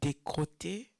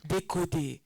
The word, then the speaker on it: décoder: On dit quoi? Décoter? Is that how you say it, Pastor? Décoder. Yeah. Décoder la Bible dans notre Bible Study aujourd'hui.